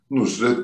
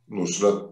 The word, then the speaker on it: Nusret: Şeyin adı, yani senin de vurguladığın gibi, sevgili Süleyman Hocamızın da vurguladığı gibi Nusret Nusret'tir. Nusrat değil.